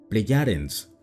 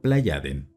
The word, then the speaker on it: Plejaden: Los llama Pleyadens, una corrupción de pronunciación del germánico Plejaden.